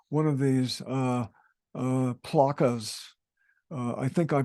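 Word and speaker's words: plaça: Conchita corrected me um it's p-l-a-c-a rather than a plaza so in Catalan uh I think it's more of a placa with a rather than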